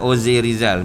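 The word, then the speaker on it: José Rizal: heboh di Filipina kita the erizal bukan josrizal Ozil Rizal bunyi deh ozaltun muslim ya seorang pejuang kemerdekaan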